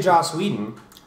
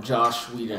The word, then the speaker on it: Joss Whedon: Because I couldn't say Joss Whedon, so Yeah.